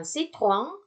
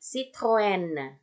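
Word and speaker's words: Citroën: Padahal yang betul adalah Citroen. E-nya terbaca jelas dan huruf yang setelahnya itu terbaca juga jadinya. Jadi bukan citron, tapi Citroen. Ya, itulah fungsi trema di atasnya.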